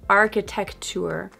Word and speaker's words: architecture: Number seven, architecture. Not architecture, but architecture. architecture. Architecture. So notice how the C and T sounds blend together in this word.